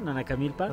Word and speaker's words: Nanacamilpa: Sí, Nanacamilpa, Ok, Tlaxcala. voy en las pronunciaciones para arriba, ya.